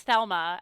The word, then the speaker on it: Thelma: called them that and they're like, no, it's Thelma. And they had to say it like 3 times before I got it.